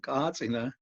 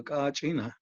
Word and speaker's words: kachina: to tell you immediately the kachina is pronounced in different ways throughout in hopi and other pueblos some places they're called kazina and other places they call kachina so but it's the same